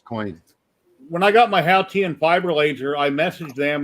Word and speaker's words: Haotian: And he told me, and I practiced saying it, and it's Haotian. And that way, the guy's like, "Oh, you say it perfectly." Only in China, it's actually Haotian, but in China, they're going to pronounce it Haotian.